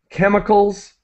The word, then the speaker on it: chemicals: and mechanic iCal so the CH is produced uh sorry is pronounced as a k as a k sound chemicals and mechanical harves chemicals